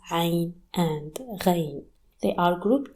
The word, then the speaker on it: Ayn: The closest thing to it is the letter A. While you pronounce A from the top of your throat, Ayn is a very throaty